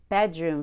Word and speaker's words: bedroom: bat bedroom furniture so when I said bedroom furniture I had a lot of energy on the word bed bed and then on room I relaxed bedroom bedroom so what I find with non-native speakers whom I teach is that they don't know how to relax on the syllables that we don't stress they have too much energy put forth on the word room when we say bedroom